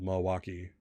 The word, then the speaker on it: Milwaukee: no, because if when they say the word Milwaukee, a person not from Milwaukee will pronounce the L. A person from Milwaukee will pronounce not the L. So Milwaukee.